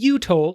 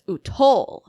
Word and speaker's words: Utol: I think we just need to put the emphasis on the second syllable so that it's Utol system.